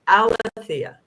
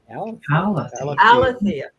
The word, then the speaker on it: Alethea: So my understanding is it was actually pronounced Alethea. Alethea.